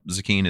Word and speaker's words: Zecchin: spelled z-e-c-c-h-i-n it's pronounced zucchini that's weird sounds like zucchini yeah so what um